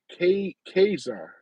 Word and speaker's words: Caesar: Megan says Caesar is pronounced as yeah, Kaiser. Oh, really? Okay, that may be Italian.